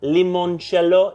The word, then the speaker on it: limoncello: might not have heard of this it's called limoncello if you'd like to pronounce it correctly this is from a little